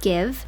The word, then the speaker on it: GXVE: Gwen Stefani is a 53-year-old American singer, songwriter, fashion designer, and founder of GXVE Beauty, pronounced Give, born in Anaheim, California to Italian-American Dennis and Irish-American Patty.